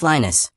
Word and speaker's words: Linus: Pope Lionus Greek Lambda Linos pronounced Lionus who died around 80 AD served as the bishop of Rome from approximately 68 AD until his death.